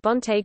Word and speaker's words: bon: The nasal consonant was fully pronounced, bon was pronounced bon, modern French, b, nasal vowels were present even